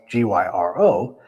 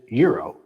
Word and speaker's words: gyro: A lot of Americans say gyro, which I said before I knew what it was, or girro. But the Greek pronunciation is euro. Order a euro next time and you'll sound like a local or probably confuse a